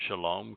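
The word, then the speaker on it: שלום: frequently than Torah mhm the o sound in Shalom comes from well the wall even Israel that's the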